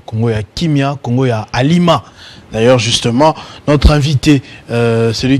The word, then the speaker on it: Alima: Est-ce que j'ai bien prononcé Alima? Alima.